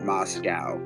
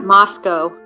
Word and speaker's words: Moscow: wrong a couple times I guess the locals pronounce it Moscow not Moscow um yes you're right I've seen that Moscow I think I think